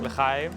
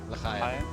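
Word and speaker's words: לחיים: L'chaim. L'chaim.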